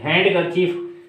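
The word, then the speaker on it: handkerchief: चीज होती है और silent D silent D silent D में क्या क्या है कि हैंड करची हैंड कर्चीफ हैंड कर्चीफ में डी खामोश है और वेनसडे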